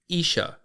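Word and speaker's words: 医者: is going to be the Japanese word for medic and that is going to be Isa Isa is spelled i h I wanted to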